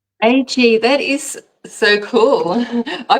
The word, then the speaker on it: Agee: Agee, like is it? I always tell people as if it's the two letters by themselves. Agee, that is so cool.